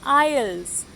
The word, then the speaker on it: aisle: So these are called aisles. AISLE aisles. AISLE aisle. S is silent.